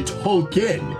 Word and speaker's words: Tolkien: no no no no his name is actually tolkien after jr tolkien author lord of the rings i've been saying it wrong my bad y'all t-o-l-k-i-e-n hmm this is